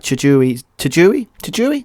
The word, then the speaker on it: Tajiri: We had a really cool like kind of picture-edge segment, kind of similar to like Tajiri.